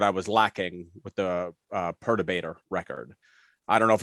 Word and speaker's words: Perturbator: talking about and it's definitely not how he's pronouncing probably not but i just love it yeah earth debate or however you say what is it perturbator that's what it is i id i knew